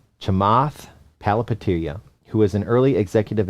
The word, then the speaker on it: Chamath Palihapitiya: How to pronounce his name? Okay, Chamath Palihapitiya. Chamath Palihapitiya, who is an early executive at Facebook.